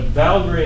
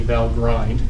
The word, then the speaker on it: Valgrind: having memory leaks what valgrind is and i know it's spelled like it should be val grind but it's really pronounced valgrind just that's the way they did it debugging memory leak detection